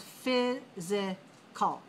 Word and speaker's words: physical: The next word, number 17, is physical. So we have phys.i.cal. 2 dots means 3 syllables, physical. Okay, look in the pronunciation, you see physical. Where's the stress mark? Physical. Stress on the first syllable.